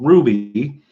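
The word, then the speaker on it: RWBY: that I really enjoy called Ruby it's an anagram it's spelled rwb why I really enjoy that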